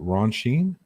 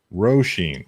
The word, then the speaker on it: Roshin: Is that Ron Sheen? Am I saying your name wrong? I apologize. My mistakes. Roshin. Okay, Roshin. Okay, cool.